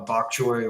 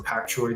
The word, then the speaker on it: bok choy: So, right there you've got a a bok choy or pack choy, depending on how you pronounce it.